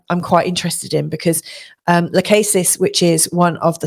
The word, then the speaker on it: Lachesis: So we've got asteroid now, Lachesis. I've also heard people pronounce it Lachesis.